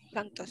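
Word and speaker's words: サントス: Santos desu. Santos. Perhatikan baik-baik. Santos. Watashi wa Santos desu. Lafalnya. Santos ada seperti u tapi tipis sekali.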